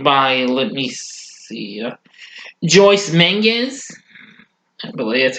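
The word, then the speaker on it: Menges: who is played by let me see Joyce Mingus that's how you pronounce that name they decide to investigate Arno's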